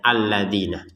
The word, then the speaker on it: alladzina: Tapi kita bacanya tetap alladzina, harokatnya fathah a itu ya, alladzina. Alladzina yadhunnuna annahum mulaku rabbihim. Di sini langsung saja alladzina, perhatikan na tidak ada tanda panjang sehingga langsung saja nyambung kepada iya ya.